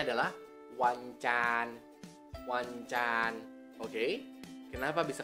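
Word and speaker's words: วันจันทร์: Dibacanya adalah wancan.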